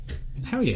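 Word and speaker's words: Hoyiyeh: And he says it, and it's spelled H-O-Y-I-Y-E-H. Yeah. Hell yeah.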